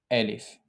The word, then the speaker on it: Alif: The first letter in this series is Alif. The name of the letter is Alif. The pronunciation of the letter is A, A, as in Ana, Ab, Ahmed.